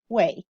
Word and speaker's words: ui: Here's the U, and here is the Wei, UI, pronounced Wei.